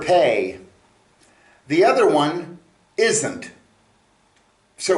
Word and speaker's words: פ: puppy the pay is the letter p as in puppy hey good good boy